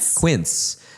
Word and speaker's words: Quince: Like one of the the people I spoke to was like the person that invested in like Kinse Kin say? How do you say it? It's Quince.